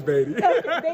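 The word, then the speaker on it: Badie: last thing for me is it baddy or batty we got to know it's batty that's everybody loves Badd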